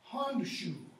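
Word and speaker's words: Hondscioh: It's Hondshu.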